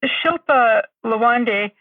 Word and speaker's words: Shilpa Lawande: I wanted to ask you, Shilpa Lawande, is that how you say her name?